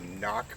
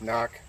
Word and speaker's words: CNOC: original sawyer squeeze and a knock bag spelled cnoc i believe i'm pronouncing that right we're going to show